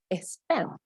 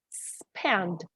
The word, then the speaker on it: spend: uh thank you stanley just remember when we have an s at the end at the beginning of a word we don't pronounce like in spanish expen we pronounce spend just this okay thank